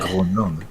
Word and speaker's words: Grönland: Grönland. Grönland. Well, that's how... Grönland. It's how Greenland is pronounced.